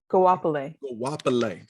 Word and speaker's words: Goapele: never knew how to say her name properly Goapele okay but but you're an experience and that's